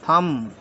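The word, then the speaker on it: thumb: एच यू एम बी थंब नहीं बोलते इसको बोलते थम ठीक है एल ए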